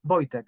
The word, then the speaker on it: Wojtek: Would it be Wojciech, perhaps? Or Wojciech? Hello everyone, it's Wojciech. I wasn't too far. But you can also say in the shorter way Wojtek.